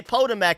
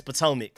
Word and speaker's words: Pomac: know I used to I used to literally pronounce it pmac and then everybody got mad at me so I I remember it's pomac so I got y'all